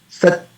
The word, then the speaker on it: Sat: So when we pronounce Sat, so the ta sound, it is pronounced for the period of ardhamatra, because there is no vowel connected to it. It is S-A-T. It's not S-A-T-A.